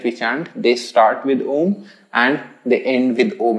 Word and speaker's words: Om: come from the word om or ah uma if you break it down physically inside the body anytime you're chanting then you'll realize that all of these three syllables a u and m they have a different